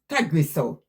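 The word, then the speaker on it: Tagrisso: Uh, it pronounced Tagriso.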